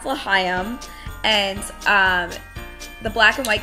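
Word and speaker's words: L'Chaim: But basically we thought the black and white cookie, which by the way, the booth was pronounced Lahayim. How we didn't get that, I have no idea. But it's pronounced Lahayim, and the black and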